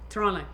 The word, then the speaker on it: Toronto: Toronto. There's no T.